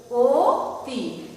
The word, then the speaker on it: অতি: আদ্য অ এর পরে রস্যিকার রয়েছে, তাই এই অ এর উচ্চারণ হচ্ছে ও এর মতো। তাহলে অতি উচ্চারণ নির্দেশ করতে বলা হলে কি লিখতে হবে? লিখতে হবে ও, ও তি।